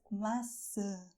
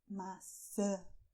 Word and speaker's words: maçã: And this is a very difficult word for foreigners: "MAÇÃ". "MAÇÃ", with your nose, too, "apple".